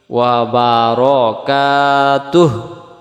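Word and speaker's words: وبركاته: ওয়া বারাকাতুহু, ওয়া বারাকাতু পড়ি আমরা, এই হুটা আমাদের উচ্চারণ বাদ চলে যায়। এখানে যদি হু বলি দম ছাড়া যাবে না, দমটা ছেড়ে দিলে ওয়া বারাকাতুহু, তুহ এমন হবে।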